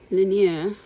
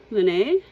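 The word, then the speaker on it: Laneige: So, Laniege? Laniege? I don't think you pronounce the G.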